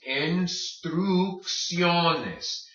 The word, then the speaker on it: instrucciones: So this first word is pronounced instrucciones. Instrucciones. Why? First C hard, second C soft. Instrucciones. Okay, remember, because the O is there, say that O hard.